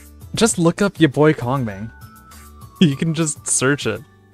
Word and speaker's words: Kongming: Why do I pronounce it like conch? Because that's the American pronunciation. Also because it makes people giggle.